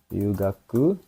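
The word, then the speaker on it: 留学: Ryugaku ini kanj Ryu gaku. Bacanya Rugaku.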